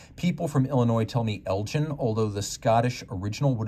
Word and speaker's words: Elgin: I know some people ask how it's supposed to be pronounced. People from Illinois tell me Elgin, although the Scottish original would have been Elgin back in Scotland.